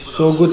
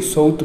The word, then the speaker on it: Söğüt: सोगुत नहीं, सोउत बोलते हैं उसको, जी साइलेंट है।